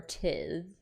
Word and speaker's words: tithe: After chronicling and the assassin's claim of their own tithe? How do you pronounce that word? I don't even know if it's tithe or tithe.